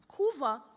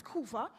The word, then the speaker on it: Couva: kuva got its name kuva was a mispronunciation of the Spanish word Cuba due to the tendency to pronounce the letter P as V thus leaving us with kuva I can't boast that